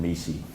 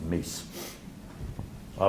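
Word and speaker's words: MECE: mckinsey and co and they pronounced it mesi but the person who invented it calls it miss i was originally taught it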